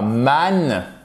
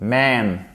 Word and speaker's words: man: C'est pas man, c'est man.